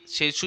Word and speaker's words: Tshechu: इसे छेशू, यहाँ पर थोड़ी आपकी स्पेलिंग गलत लिखी है, छेशू मेला बोलते हैं। तो ये कहाँ मनाया जाता है? ये मंडी में मनाया जाता है। मंडी का जो रिवाल्सर है वहाँ पर ये मेला लगता है। कौन सा? छेशू मेला। स्पेलिंग इसकी TSHECHU, ठीक है, TSHECHU इसकी स्पेलिंग है।